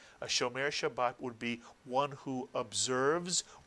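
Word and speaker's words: שומר שבת: If you said Shomer Shabbat or Shomer Shabbat, you are 100% correct.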